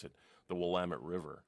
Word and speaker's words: Willamette: law oh that will let I came as pronounce it the Willamette River right and I caught a five and